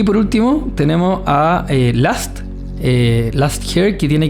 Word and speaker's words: Lust: Last, acuerden que se escribe L U S t. Eh, o sea, se dice lost, eh, o sea, se dice last, o sea, perdón, vuelvo para atrás, se escribe lust, pero se dice con a last hair y lo pueden